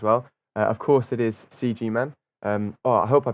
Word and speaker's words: CGMan: english pronunciation but hey i always use the english pronunciation myself ah cool um any